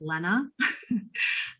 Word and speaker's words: Lena: i'm sorry i i my name is actually pronounced lena and i didn't ever tell you that probably